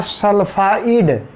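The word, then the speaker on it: sulfide: For nitrite, sure for सल्फाइड and success for सल्फाइट। Pronunciation में last में T आएगा और इसमें D आएगा, सल्फाइड, D फॉर डॉग।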